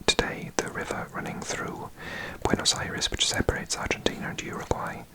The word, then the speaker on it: Buenos Aires: I've heard some butchered pronunciations of that. What have I heard before? Someone said Buenos Aires, maybe, or Buenos Aires. Oh god, some terrible. So Buenos Aires.